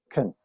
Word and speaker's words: can: Entonces, si te das cuenta, si pones mucha atención, casi que no pronuncio la palabra, ¿sí? Can no tiene fuerza ahí, ¿sí? El énfasis lo tiene park, estacionar. Una vez más, you can park here, ¿sí? Entonces, la palabra can la pronuncio can, can.